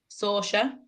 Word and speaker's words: Saoirse: Here's pronunciation central. Saoirse, it is, I think. Saoirse Noonan. It is. It's, yeah. Saoirse.